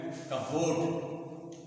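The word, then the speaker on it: cupboard: होता है तो ऊपर का उसको बोलते है कबड कबड य उरण कबड कबड कबोट तो इसमें उच्चारण नहीं होता और जो है प का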